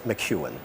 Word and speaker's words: McEwen: It is McEwen, but that's very correct. Sorry for mispronouncing. That's okay. Welcome, Mr. McEwen.